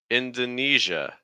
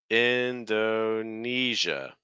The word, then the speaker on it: Indonesia: Indonesia Indonesia okay so notice that when you have this EJ sound this e SI a in this case it's going to take on a j it's not a very common sound in English but we have it here for like like pleasure Leisure Fusion indon so it's not J it's a smoother sound the air needs to keep flowing through the mouth don't block it completely e eia Indonesia the